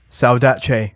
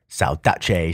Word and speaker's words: Saudade: ] man so that was night Birds by salach even though it's spelled like salade they're Italian so s a u d a d e if you're interested but it's pronounced salach sounds like a dish tasty